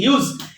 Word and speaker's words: Hughes: এটাকে অনেকে হাগেস বলে, হাগেস বলার দরকার না, এটা হচ্ছে কি হিউজ, HUGHES, হিউজ। অনেকে এটার উচ্চারণ করে হাগেস। আচ্ছা, হাগেস এগুলো বলার দরকার নেই।